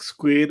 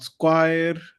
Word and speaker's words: square: was a pronunciation feedback square is pronounced as Square not Squire Squire is a kind